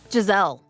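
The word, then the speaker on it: Jezal: Do they say Jazelle or Jezel or how do they pronounce it? Jazelle.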